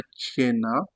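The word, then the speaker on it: cena: Pourquoi est-ce qu'on a Tchena? Parce que le C est devant E. Donc le C se transforme en Tche. On aura Tchena, Tchena, Tchena, Tchena. Le dîner. Tchena, Tchena.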